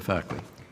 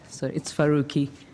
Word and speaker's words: Faruqi: Senator Farquhar. Thank you, Chair. It's Faruqi.